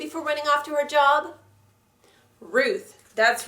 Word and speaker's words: Job: have job remember job in the Bible it's pronounced job because it's a man's name okay psalm starts